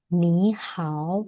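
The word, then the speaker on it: 你好: Dui, bacanya adalah ni hao.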